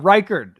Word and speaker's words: Reichard: Yeah, Reichard is how it's pronounced.